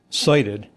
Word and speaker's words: SIDIT: So, si ti d pronounced uh cited.